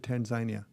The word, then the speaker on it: Tanzania: acquire these projects in Tanzania or Tanzania Tanzania okay well that's the locals pronounce it Tanzania ah I was unfamiliar